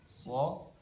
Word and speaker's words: ص: Cara pengucapan huruf so itu tempat keluarnya ada di ujung lidah. Ujung lidah bertemu dengan dinding gigi seri bawah. So. Kemudian lidah tengah agak terangkat ya, agak terangkat. So. Jadi dibacanya tebal.